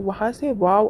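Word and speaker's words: واو: 'वाव' अक्षर का उच्चारण क्या है? दोनों होठों को गोल करके या मध्य भाग को खुला रखते हुए दोनों होठों के किनारों को जोड़कर , आपका 'वाव' उच्चारित होता है।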